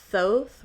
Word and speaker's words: Soth: office again um so soth rhymes with both okay good good good